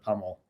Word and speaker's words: PUML: is it what's what's the the way to pronounce it the official title is puml better health um but then anyone who comes into the fold just calls it pummel and is is there a story behind puml